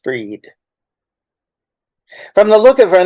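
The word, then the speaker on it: Bríd: like the Christmas tree Bridgette pronounced breed from the look of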